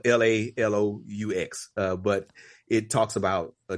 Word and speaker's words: Laloux: And so it's spelled Lalous, but it talks about a different model of